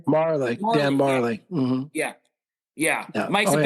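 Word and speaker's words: Majerle: in Phoenix one time with your guy Dan Mallory. Is that how you say his name? Marley.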